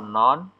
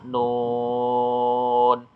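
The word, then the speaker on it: نون: di bawah ini yaitu non Eh non na Nun ya bukan Non ya tapi Nun Q Shad Ain Sin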